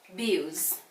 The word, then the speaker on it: abuse: So in that case, we are going to stress the syllable with the long vowel sound. And this is ooze, ooze. It has the long oo.